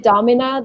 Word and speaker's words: domina: And if you said domina, that's fine. Like that's kind of more of a American pronunciation.